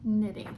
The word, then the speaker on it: knitting: silent letter K and the silent letter W with WR in one of my yellow groups. So we are going to talk about knitting, or we've been talking about knitting this week.